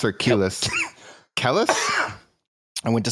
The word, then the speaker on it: Kelis: Kellis or Kelis?